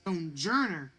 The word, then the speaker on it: Stonjourner: Stonjourner It's Stonjourner, like journey.